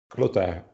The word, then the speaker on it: Clotaire: I suppose to be the right pronunciation, this one. Rapaille, like apple pie. Clotaire, is it right?